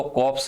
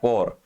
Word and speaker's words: corps: इसको कॉप्स नहीं कहते, इसका प्रोनाउंसिएशन होता है कोर और इसका प्रोनाउंसिएशन होता है कॉप्स, दोनों में काफी अंतर है, ठीक है ना।